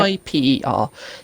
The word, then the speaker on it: Kuiper: and all of that, and you know about I believe it's pronounced Kuiper Belt. It's Yep. Kuiper.